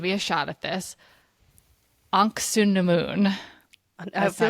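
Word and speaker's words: Ankhesenamun: Anksunamun. I That's feel not like they say quite like how they say it. Anoxunamoon. It's always right how it's spelled. It's like missing Right? a syllable. They say Anoxunamun is how they say Yeah, it.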